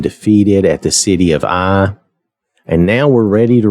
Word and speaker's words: Ai: But the actual pronunciation, I've looked this up online, and I believe all the sources agree that it was actually pronounced I, as in your eye, or as in the letter I.